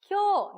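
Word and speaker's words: 今日: 먼저 시우가 쿄 나니오 시마시다까 라고 이야기를 시작을 했는데요. 일단 이 오늘이라고 하는 단어요. 일단 이 요가 요음이기 때문에 기요라고 읽지 말고 쿄라고 한 번에 쿄가 나와야 됩니다.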